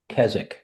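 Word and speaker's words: Keswick: big place and it's named after Kzich which is spelled ke wic k so it came from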